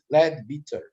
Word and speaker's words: Leadbeater: A pronúncia correta é Leadbeater.